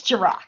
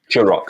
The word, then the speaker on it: Gerock: And so today I'm joined by, is it Gerock? It's Gerock. Gerock, sorry, soft G, apologies.